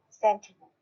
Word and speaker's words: Sentinel: So I said, I pronounce it Sentinel.